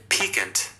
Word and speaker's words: piquant: Piquant.